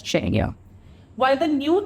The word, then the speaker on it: Czechia: recognition on global stage, that is Czechia, pronounced as Czechia.